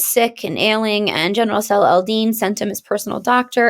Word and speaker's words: Salah al-Din: And you might, look at his name and be like, oh, Saladin. It's pronounced Salah al-Din, and he was a very, very strong and successful Muslim general.